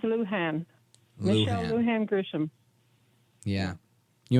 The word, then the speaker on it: Lujan: Now, how do you pronounce the governor's middle name? It's Lujan.